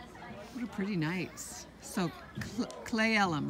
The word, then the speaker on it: Cle Elum: a hug Oh you're pretty nice so clay LM right that's how you pronounce it and this is an eating area